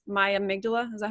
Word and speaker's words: amygdala: So it's not me, it's my amygdala.